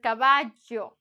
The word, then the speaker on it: caballo: Because it's a caballo, right? So you have to pronounce this one because it's not an I. It's not caballo. It's caballo.